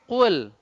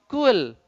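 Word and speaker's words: قُلْ: Ya, susah mengucapkannya ketika dia dalam keadaan dhammah. Qul. Banyak orang bacanya kul. Apa artinya? Kul katakanlah, sedangkan kul adalah makanlah.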